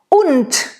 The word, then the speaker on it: und: Und, same. Und, Tod, und. It's not a D. It sounds like a T.